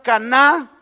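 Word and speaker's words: קנאה: Envidia, que viene de la palabra hebrea caná, con acento en la última A, y que significa sentimientos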